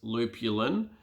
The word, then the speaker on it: lupulin: pretty interesting so it's spelt lupulin but it's pronounced lupulin and it's a yellow gland of a hot